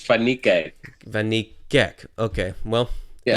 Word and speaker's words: Van Niekerk: How do you pronounce Wade Van Niekerk's name? I'm sorry, I need to know this. Wait, Fanikak.